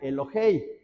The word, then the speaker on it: Elohei: Aquí se pronuncia Elohei, porque está relacionada con otra palabra, pero es Elohim.